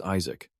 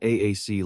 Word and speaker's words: Isaac: Exhausted, he reminds them his name is Isaac, not AAC like they keep calling him.